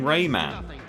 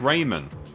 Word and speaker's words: Rayman: Rayman Raymond Rayman oh they're now saying Rayman I thought it's pronounced Raymond I have to gather